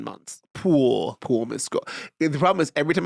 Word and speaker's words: Mescal: Or Paul Mescal?